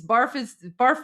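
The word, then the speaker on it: برف: across various languages, but it's not pronounced barf, it's pronounced barf. Kind of like hat. You know how you say the word hat? You don't say hot. You say hat. So it's barf. It's barf, not barf, but there you go.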